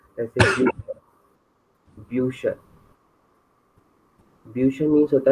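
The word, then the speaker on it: Bücher: Pronunciation होता है, जैसे ब्यूशर, ब्यूशर, ब्यूशर मीन्स होता है बुक्स।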